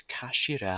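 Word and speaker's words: 頭: end of the hilt it's written as head in japanese but it's pronounced as kashira i believe so mr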